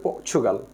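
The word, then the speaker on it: Portugal: পর্তুগাল শব্দটা কিন্তু ইংলিশে উচ্চারণ হচ্ছে পর্চুগাল।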